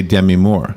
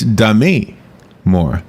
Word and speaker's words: Demi Moore: I am mispronouncing her name when I say Demi Moore. Really? It's Demi Moore. Demi Moore. Demi Moore. Did you know that? I didn't know that. I thought it was Demi Moore.